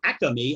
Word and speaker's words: Acme: Up the street from me is an Acme supermarket, or Acme, as they pronounce it in the Northeast, where H.H.